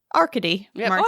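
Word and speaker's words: Arkady Martine: um our space President arcadey Martin it's actually pronounced arcadey Martin I thought we got that one right did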